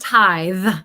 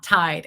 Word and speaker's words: tithe: institution you belong to it's spelled tithe with a th not tide and I definitely recorded a whole training video in my program where I said tied multiple times because I didn't